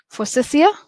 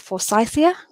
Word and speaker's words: forsythia: or your cherry blossom forsythia or as some might say it for Scythia now my systematics professor